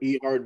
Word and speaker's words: E Hard: So let's dive into working with Rico and then working with, is it E Hard? Is how you pronounce it? E Hard Media for the video. Yep.